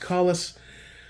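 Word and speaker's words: Kahles: It is pronounced Collis, Knights Armament CAC, and LMT.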